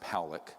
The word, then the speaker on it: Pollack: This man, William Pollack, his name is pronounced Powlick, was a man, very good man, who gave me an interview only to be released posthumously after he died.